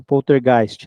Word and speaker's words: poltergeist: Poltergeist, eu não sei como é que se lê a pronúncia, poltergeist, né? É poltergeist mesmo.